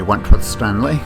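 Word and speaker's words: Wentworth-Stanley: This is Wentworth Stanley. I'm the fellow who has a hyphen in my name. The hyphen is silent, but I am anything but that.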